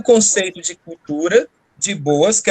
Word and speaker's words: Boas: é sobre né franz boas a gente só pronuncio boas então ele é o